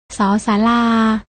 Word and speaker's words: ศ ศาลา: ๆ ลอง อ่าน ออก เสียง ตาม นะ คะ ศ ศาลา ส ฤาษี ส เสือ และ ทั้ง หมด นี้